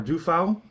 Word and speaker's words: Duffau: So defa or dufoul, they say it's commonly misspelled. I don't think anyone cares, but it's properly spelled on this bottle. They say oftent times people misspell it and use an a instead of a u.